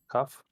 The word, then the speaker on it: Cuth: Cuff? Yes, C-U-T-H. At least this is the way I pronounce it.